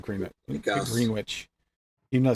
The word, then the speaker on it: Greenwich: Yeah, Greenwich. That's their normal. That's right. It's Greenwich, isn't it? Not Greenwich. Guess. Greenwich.